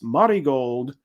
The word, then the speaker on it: Marigold: about the promotion that it is Marty gold and not Mary gold but who knows